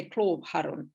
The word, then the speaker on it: Klovharun: by asking you about uh the island of cloth haran am i pronouncing that correctly yeah we would say club oh okay i won't attempt that um i